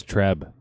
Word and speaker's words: Trzeb: to get better oh i misread that it's treb thank you his wife